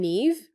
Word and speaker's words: Niamh: And then Niamh, the name Niamh, which is such a beautiful name to say, but the spelling is completely not what it looks like.